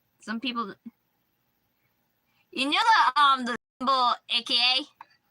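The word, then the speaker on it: 赤: Like, some people, the symbol AKA. It's not in Japanese. It's spelled the same, it's saying AKA, but for their AKA, it's known as Aka, and that means red.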